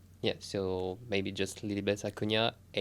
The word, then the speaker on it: Acuña: So maybe just a cu na. Yes. Love that you pronounce my name correctly.